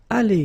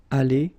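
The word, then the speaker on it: allés: good news is that phonetically it's Ali here Ali Ali Al so it's the same you don't pronounce this uh final uh you don't pronounce this final s here okay so it's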